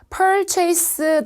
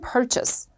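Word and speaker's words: purchase: 있는데 주의해야 되는 거 parchase 이발은 너무 싫어 purchous 영국 발음 퍼처스 알겠죠 이제 하지 마요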